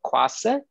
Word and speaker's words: Kuasa: I'll spell it again for all of us here today. It's Pantau, P-A-N-T-A-U, Kuasa, K-U-A-S-A, those are in one word, .org.